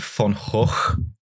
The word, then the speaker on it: van Gogh: class did you know the Dutch pronounced it fun hole Wow um come for